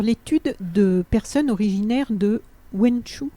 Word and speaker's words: Wenzhou: de personnes originaires de wenzhou on prononce comme ça winslow donc pourquoi en fait